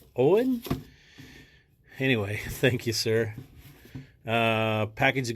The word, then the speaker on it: Eoin: Oh, got a couple of hats going to, I don't know how to pronounce this, Mr. O'Donnell. It's E-O-I-N. Eoin? Owen? Owen?